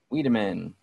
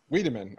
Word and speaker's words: Wiideman: Wiideman. Wiideman. Okay. I always add an L in there for some reason. Everyone does.